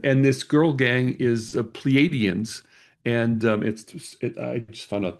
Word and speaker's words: Pleiadian: and this girl gang is Pleiadians, and I just found out that it's pronounced Pleiadian, Oh, and I've Pleiadians.